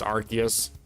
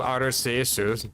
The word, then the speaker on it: Arceus: Arus cuz technically in English it would be pronounced Archus, but in Japanese it's called Arus.